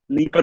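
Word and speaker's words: Dnieper: नीपर river पर है शायद, डी साइलेंट होता है उसमें।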